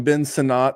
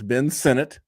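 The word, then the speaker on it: Ben Sinnott: guy yeah now we used to call him Ben sinat that's not how it's you know pronounced it's Ben Senate um but Zack hers who's literally the same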